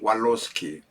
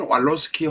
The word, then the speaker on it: Walorski: 번 당선이 되었던 다선의원인 젝키 왈로스키 혹은 왈로스키 혹은 원로스키라고도 발음합니다 젝키 원러스키의 사주를 한번